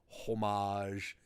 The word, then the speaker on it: homage: would be a nice homage but yeah that didn't quite happen didn't it but that's why it's mold it's very bold homage rhymes with fromage which means cheese in